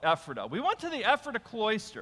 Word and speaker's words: Ephrata: to the ephrata cloister now I call it ephrata the way it's supposed to be pronounced right and because but for you so you'll know what it is we'll call it effort up we went to the